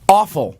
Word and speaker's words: offal: Anyway, like everyone just spent all of their time in awful, as they call it.